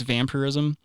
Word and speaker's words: vampirism: He's not saying it right. It's vampirism, but it's basically you find a coven of other vampires.